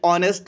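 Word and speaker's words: honest: हमारे पास रूल है अगर हमारे पास एच साइलेंट होता है और वावल साउंड आ रही होती है तो हम वहां पे एन आर्टिकल का यूज करते हैं इट मींस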